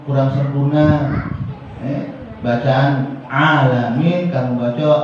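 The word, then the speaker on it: العالمين: Bacaan alamin, kamu baca alamin. Misalnya dibaca alif, bukannya dibaca ain. Kan alhamdulillahi rabbil alamin. Itu tenggorokan. Alamin bukannya alamin, beda.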